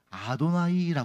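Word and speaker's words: אֲדֹנָי: 이름을 부르는가 해서 감히 못 부르고 뭐라고 했냐면 아도나이 읽었어요 써 있는 문자는 성부 하나님의 이름 내 자음 되데 읽을 때는 뭐라고 읽었다고 아도나이이 정도는 외워 드시는게 좋겠네요 자 따라해서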